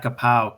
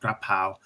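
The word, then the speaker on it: กะเพรา: So, pad kapao. Kapao is actually their word, or more, it's pronounced more like grapao.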